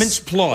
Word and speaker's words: Mintz-Plasse: Plasse, yes. Mintz-Plasse. Like floss with P.